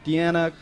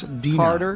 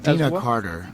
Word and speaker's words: Deana Carter: And don't you tour with the country music artist Deanna? Yes. Dena. Dina Carter.